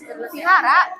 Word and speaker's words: vihara: Bu ini dibacanya wihara ya Bu? Iya, vihara. Dibacanya Vihara. bukan di toilet.